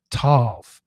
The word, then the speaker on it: tov: It's three letters, t o or t u v or T O V and it means it's everything that we need to hear and it's packed into this single syllable.